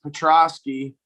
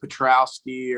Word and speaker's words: Petroski: see uh i mean everyone butchers my last name it's petrovsky but they'll add in like a w petrowski or petrovsky or however they want to pronounce it yeah and that that